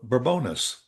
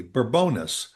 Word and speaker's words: Bourbonnais: all was a a town uh called uh Bourbonnais. It was on the on the highway, Bourbonnais. B o u r b whatever Bourbonnais. And somebody said, "No, it is a French pronunciation, Bourbonnais."